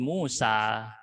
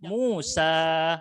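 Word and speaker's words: موسى: Alif melengkung aslinya Alif makanya dibacanya panjang Musa harus dibaca panjang madii ya dengan dua harakat Musa nah dia tidak punya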